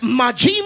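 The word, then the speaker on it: מים: Cuando la Biblia especifica agua viva, es la palabra hebrea que se pronuncia mayim.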